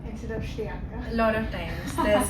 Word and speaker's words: Shriyanka: Shriyanka, welcome to the show. Thank you so much. Welcome to the winning story. Thank you. My first question is, how many times have people called you Shriyanka instead of Shriyanka?